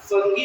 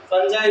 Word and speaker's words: fungi: Heterotroph का example, the example of the heterotroph will be fungi, फंगी भी बोलते हैं, बहुत लोग इसको फंगी प्रोनाउंस करते हैं, प्लस फंजाई भी चलता है।